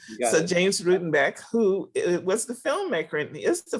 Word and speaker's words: Rutenbeck: And then James, please correct me if I don't pronounce Rudenbeck. Is that correct? Yep. All right. So James Rutenbeck, who was the filmmaker and is the filmmaker, and he's with us.